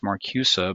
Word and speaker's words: Marcuse: herbert marcuse and i i think i've heard it pronounced marcusa but i'm just going to say herbert marcuse and it's interesting he